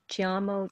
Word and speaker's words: chiamo: Italian, it's confusing because the CH is kind of like a K sound. So so this word here is pronounced like chiamo.